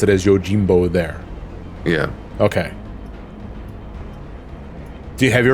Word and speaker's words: Yojimbo: Okay, and they pronounce it as Yojimbo there.